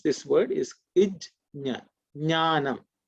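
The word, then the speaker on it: ज्ञानम्: Some people say gyanam. Some people, okay, some people may say jnanam, jya, gya are sometimes a pronunciation which have come up in various regional languages in India, and because of that sometimes it is confused. Okay, but the right pronunciation is ij and nya.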